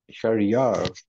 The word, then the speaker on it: Sharry: name is Ernst and your name is Juan Sharia that's how you pronounce it why you're lagging is it your